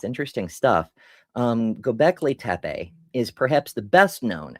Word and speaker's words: Göbekli Tepe: Let's see how the website pronounces it. Göbekli Tepe.